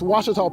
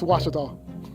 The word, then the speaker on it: Ouachita: How would you pronounce it? Ouachita. Ouachita. It's Ouachita Baptist University. Get it right. It's Ouachita, people. It's Ouachita.